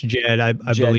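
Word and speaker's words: Djed: you say that word uh Jed it's just Jed killer yeah yeah what it represents it's symbolic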